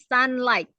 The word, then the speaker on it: sunlight: sunlight-nya ya Jadi sunlight-nya pas eh pronounc-nya gh-nya hilang ya gh-nya hilang jadi Sun sunlight sunlight ya sunlight sunlight